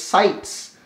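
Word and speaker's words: CITES: and endangered species is also known as sites so just like City it's spelled like city with a sea but it's sights they they down listed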